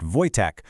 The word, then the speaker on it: Wojtek: That's pronounced Voytech, which translates to joyful warrior.